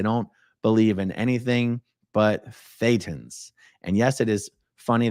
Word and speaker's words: Thetan: believe in anything but Thetans. And yes, it is funny that Thetan rhymes with Satan. That Thetan is Satan with a lisp.